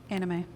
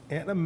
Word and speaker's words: anime: I don't know how to pronounce it. I bet you the boys from, A-N-I-M-E. Anime. Anime?